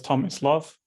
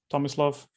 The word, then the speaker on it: Tomislav: issues saying it so you can pronounce it as tom is love tommy's love quite easy to remember um